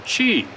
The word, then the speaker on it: qi: In China, internal energy is called qi or chi, and it's pronounced chi.